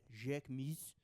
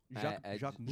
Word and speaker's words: Jacquemus: You have been embraced by Simon at Jacquemus. How do you say that, by the way? Simon. Jacquemus.